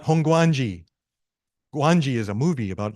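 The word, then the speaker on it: Hongwanji: Nishi honganji it's not honganji guangji is a movie about like this dinosaur no it's honganji the W is silent okay so whenever you see honganji don't say the W it's Hong Gangi and if you're going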